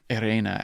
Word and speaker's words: Irene: But yeah, I looked at his link, and it's how they say it in the episode. It's Irena Adler. Yeah. I guess I just don't know why Watson would say Irena.